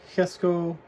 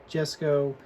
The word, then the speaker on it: Jesko: the new Lego kic Hesco absolute or Jesco whatever you want to pronounce it I've heard it officially called the hisco so that's what I'm going to call it assuming I'm pronouncing it right but this is the